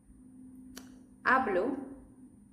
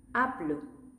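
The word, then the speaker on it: hablo: And remember, even if the sound I'm going to say is silent, they have an H. Next, see which ones you can write correctly. Word number one. Ablas. Ablas. Ablo. Ablo.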